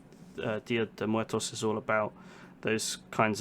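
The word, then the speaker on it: Día de Muertos: Now I need to make sure I pronounce this correctly. Dia de Muertos.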